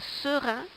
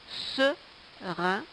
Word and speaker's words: serin: Le petit oiseau que l'on voit est un serin, ça se prononce serin.